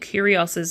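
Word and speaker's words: Kyrgios: steals a green Tesla I'm so glad that this person's famous because otherwise I'd have no idea how to pronounce this last name because seriously have you guys seen how they spell curious it's k-y-r-g-i-o-s for a dyslexic that is the most horrible last name to ever pronounce ever so Nick curios's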